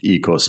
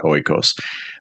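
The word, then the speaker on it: oikos: the concept of the extended family it's actually pronounced EOS not oos but you can say it however you want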